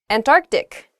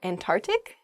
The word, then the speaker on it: Antarctic: things happen to her hyperbole not hyperbole next Antarctic not ah oh I see Antarctic is the correct pronunciation of this word some people say and and tart and tart ick really oh I guess when you're saying this